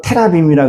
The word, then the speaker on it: 테라빔: 이건 히브리 발음으로 테라빔이라 그러는데이 드라빔은 자기 집을 지키는 신을 얘기를 해요.